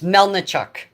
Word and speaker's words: Melnichuk: have Chuck Ukrainian here I'll do a proper pronunciation of my name it's melnichuk there now you all